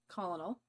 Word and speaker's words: colonel: Army lieutenant, colonel. Did I say it right? Colonel. Colonel. Think kernel of corn.